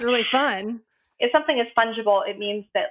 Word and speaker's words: fungible: exchanged which means it's fungible and this word fungible is important to know for nfts okay yeah